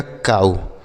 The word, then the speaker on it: cow: COW, इसे पढ़ा जाएगा काऊ। क्या पढ़ा जाएगा? काऊ। तो OW का उच्चारण यहाँ पे क्या हो गया? आऊ के रूप में हो गया।